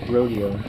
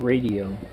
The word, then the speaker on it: Radio: It's not rodeo. Oh. It's radio. Well, in German it's radio.